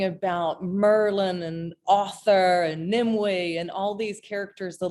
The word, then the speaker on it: Nimue: It looks like it's actually Nimue. It doesn't look like Nimue, but it's a Cornish name. So of course they pronounce things a little differently, but it's Nimue.